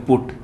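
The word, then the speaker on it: put: आ जाए तो अब देखो सेम स्पेलिंग है, देखो सम का उच्चारण फिर फोन सेम आना चाहिए ना, लेकिन सेम नहीं है, यहाँ पे चेंज हो गया। देखो हट, कट, बट, लेकिन इसको बोलेंगे पुट।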